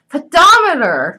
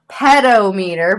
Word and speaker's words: pedometer: to worry about pedophiles and besides it's a pedometer it counts your steps not tell you if